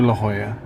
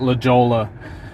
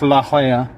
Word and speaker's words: La Jolla: the Amanda just said I used to call it La Jolla which if you say it phonetically it is La Jolla because it's a J because its name its La Jolla if you're in Barcelona okay you speak at Catalan